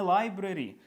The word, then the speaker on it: library: Це не library. Ми будемо читати лише тільки ось це lib і re. Ось це взагалі вилітає.